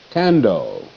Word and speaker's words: candle: Candle. Cat. Can. All. Doll. Can. Doll. Candle. E is silent. Fence goes between the N and the D. You spell can and then spell dog.